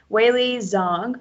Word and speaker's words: Weili Zhang: Weili Zhang, I said it right. Weili Zhang versus Rose Namajunas.